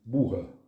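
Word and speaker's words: boha: Donc, alors la bourre, ça s'écrit boa, B-O-H-A, et ça se c'est prononce l'orthographe normalisée occitane. Oui. En fait, ça se dit bourre.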